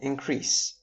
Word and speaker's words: increase: Notice how if the shift is on the first syllable of these words decrease and increase, we have a noun which means the act of increasing or decreasing.